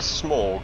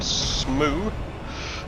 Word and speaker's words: Smough: is so this is onstein and Smog or onstein and smoo depending on your pronunciation skills there are two of